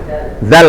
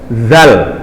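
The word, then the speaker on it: ذال: Alif, ba, ta, sa, jim, ha, kha, dal, dal, habis dal, zal bacanya ya. Ini kadang-kadang karena dianggap sepele dalam pengucapan huruf hijaiyah, antum mengucapkan hurufnya nggak betul. Dal, zal, bukan za ya.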